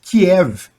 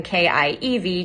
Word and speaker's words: Kiev: very different, of course, from the Russian version, K-I-E-V, Kiev.